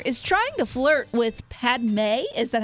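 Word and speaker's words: Padmé: Anakin Skywalker is trying to flirt with Padme. Is that how you say it? Yes, it is. Padme.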